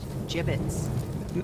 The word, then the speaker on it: gibbets: Pronounced gibbets.